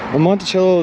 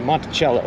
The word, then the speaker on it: Monticello: It could be Foxy Grandpa, but I'm pronouncing it like the Thomas Jefferson estate down in Virginia. Monticello, you know? Monticello.